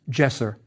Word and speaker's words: jesser: The hand holding the wand was pronounced jesser and means holy.